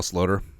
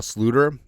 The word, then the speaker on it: Sloter: So, anyways, also his name is Kyle Sloter, but running joke, we always called him Kyle Sluter, the Dutch pronunciation.